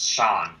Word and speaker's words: Sean: I think his name's pronounced Sean, not C.